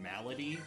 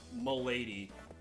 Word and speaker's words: Milady: And I think how you're supposed to pronounce it is like a little closer to Malady or something. But I think going the full Fedora tip Milady is funnier.